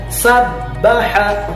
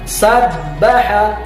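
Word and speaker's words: سَبَّحَ: Dibacanya sabbaha, huruf ba-nya ditahan, sabbaha. Sekali lagi sabbaha.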